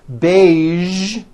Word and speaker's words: beige: casual television very good now there are only a few words that have the voiced sound at the end a few of these words are the color beige the word massage and the word prestige okay now that you